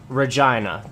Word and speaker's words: Regina: A few years back, the city, the actual city released a marketing campaign where it was titled Regina, the city that rhymes with fun.